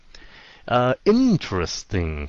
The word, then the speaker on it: interesting: hơn cái chữ Heart interesting phát âm in những âm đầu tiên in interesting Ok interesting đừng có nói nhanh là tr giống ông tr gì đó interesting Ok Day với lại